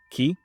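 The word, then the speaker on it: 木: Then you'll see that when we use this character on its own, we just pronounce it as ki for tree.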